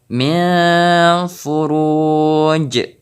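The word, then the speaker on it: من فروج: Selanjutnya min furuj. Jadi pantulan huruf jim ini pun terdengar lebih besar karena kita wakaf.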